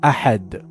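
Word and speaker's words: أحد: ensure proper articulation of ahad with a correct guttural sound of ha.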